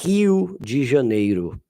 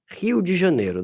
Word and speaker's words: Rio de Janeiro: So yes, I say Rio de Janeiro. Not Ju, it's Yes, Rio de Janeiro. That's the pronunciation in Brazilian Portuguese.